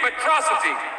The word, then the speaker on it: Metro City: This is a day you and Metrocity shall not soon forget. It's pronounced Metro City.